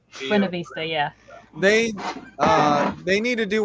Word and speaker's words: Buena Vista: pronouncing that correctly. Buena Vista, yeah.